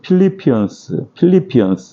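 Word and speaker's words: Philippians: 영어로는 필리피언스 이렇게 발음을 합니다.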